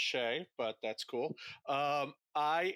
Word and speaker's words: Shea: porn addiction we are sitting down with joshua shia can you please introduce yourself and tell why you know about this topic yeah well uh it's pronounced shea but that's cool um i am a porn